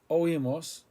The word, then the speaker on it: oímos: We heard oímos, O-I-M-O-S, accent.